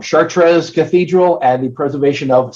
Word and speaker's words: Chartres: the 12th that is chartre I'm saying it wrong chartres Cathedral and the preservation